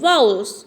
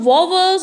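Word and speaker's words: vowels: These words are called वाउल्स, ठीक है, नॉट वोवल्स और नॉट लाइक अदर प्रोनाउंसिएशन से हम लोग इसको नहीं कहेंगे, इनको हम लोग कहेंगे वाउल्स, ठीक है।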